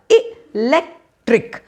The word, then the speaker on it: electric: Choose the option where the word stress has been correctly put on electric, और हमने class में किया था कि आपको पहले उसको syllables में तोड़ना है, लास्ट वाले syllable को मार्क मत करो तो क्या आएगा इलेक्ट्रिक, और इसलिए फर्स्ट वाला ऑप्शन ए, फिर स्ट्रेस सिंबल आएगा लेक, तो आई, फिर स्ट्रेस सिंबल, फिर LEK TRIK।